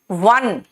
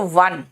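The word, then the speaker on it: van: देखो वन याद रखना वी और डब्ल्यू में जब आप प्रोनंसिएशन करते हो ना तो डब्ल्यू में गोल हो जाता है होठ वन और वी जो होता है ना उसमें आप अपने लोअर लिप को बाइट करते हो जैसे वी ए एन वैन देख रहे हो वैन ठीक है वी में नीचे वाले लिप को थोड़ा बाइट हल्का सा करते हैं वैन और डब्ल्यू में गोल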